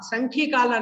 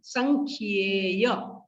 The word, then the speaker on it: संख्येय: विदेहेषु संख्येय कालाः, विदेहेषु संख्येय कालाः, विदेहेषु संख्येय कालाः, संख्य काला नहीं संख्येय, संख्येय कालाः, ठीक है।